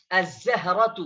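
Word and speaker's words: الزهرة: छठा वर्ड है, 6 है, जा, अज़्ज़हरतु। तो यहाँ पर भी देखिए लाम को साइलेंट पढ़ा जा रहा है और बाद वाले हर्फ यानी हरूफे शमसी पर को मुशद्दद करके पढ़ा जा रहा है।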